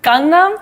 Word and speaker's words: Gangnam: Pronounce it properly for them. I say Gangnam. Gangnam? Okay, I'm close.